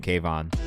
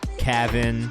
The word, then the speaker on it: Kayvan: Like, my name's Kayvan, and like the teachers that I had at school could not wrap their fucking heads around how you pronounce the name Kayvan. So I got like Kavin, Kavan, Kavanar, Kavan. So I've gotten a little bit of everything.